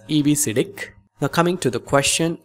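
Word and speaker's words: EBCDIC: coded decimal interchange code it can be pronounced as EBC now coming to the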